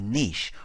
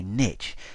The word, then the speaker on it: niche: You can choose your market based on a niche or a niche depending on how you like to pronounce that.